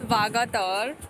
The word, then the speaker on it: Vagator: Miss Candolim is talking about mispronouncing Vagator. It's Vagator.